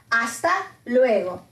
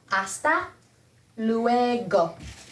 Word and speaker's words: hasta luego: until later hasta luego hasta luego remember the h is silent hasta luego hasta luego nos vemos